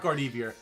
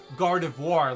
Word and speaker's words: Gardevoir: kudos to guard or hold on not guard evier gardevoir let me go ahead and pronounce that correctly i always got to think about it gar devoir uh where did i